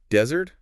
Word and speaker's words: desert: So desert, first syllable stressed. That's the dry sandy place.